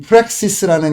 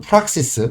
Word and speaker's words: Praxis: 또 이제이 프렉시스라는 개념 또는 프락시스 저는 프락시스라고 발음하는 것도 좋아하는데 두 가지 다 맞습니다. 영국 영원이 미국 영원의 차이뿐이죠.